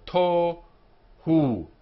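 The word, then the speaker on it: תֹהוּ: The vav with the dot on top of it is the o sound. Dot by itself means the vav is invisible. It's here between the t and the h. So to hu. The second syllable, h, and then u, ends in the vowel.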